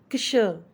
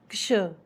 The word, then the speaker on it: क्ष: मैं बोलना चाहूँगी कि क्ष को सभी बच्चे या मोस्टली बच्चे श कह के बुलाते हैं। ये श नहीं है, ये क और शह से मिलके बनता है, तो इसको प्रोनाउंस भी इसी तरह किया जाएगा। इसका उच्चारण होगा क्ष, क्ष।